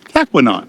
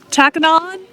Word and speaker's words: Tahquamenon: We think it's Tahquamenon. And why is that? Tahquamenon rhymes with phenomenon. Tahquamenon phenomenon.